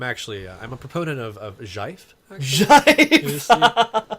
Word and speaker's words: GIF: pretty well, probably more than that because I think GIF is more popular. More humanity. But at any rate, no, I'm not. I'm actually. I'm a proponent of Jive. Jive. Is the correct Yeah, pronunciation?